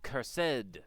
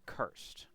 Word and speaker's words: cursed: No, no, it's it's cursed, not cursed. The extra syllable makes the stuff seem fancier. You can add at least two zeros to the end of the price tag.